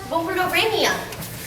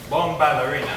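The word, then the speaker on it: Bombalurina: Thus, you could wake up such cat Bombarolina. I believe her name is pronounced Bomballerina, Heidi.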